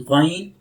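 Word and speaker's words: غين: This is ghain. Ghain. Ghain will produce from upper side of the throat, top side of the throat, like here, from here.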